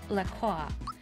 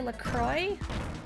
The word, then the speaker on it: La Croix: Okay, actually, so in French you would pronounce it La Croix, but I've heard people say La Croix.